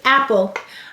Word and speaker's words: apple: The first syllable is app. The second syllable is pull. P-ul. Silent finally.